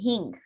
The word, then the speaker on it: hing: whole cumin seeds i have a spice called hing king is spelled h-i-n-g garam masala is really a mixture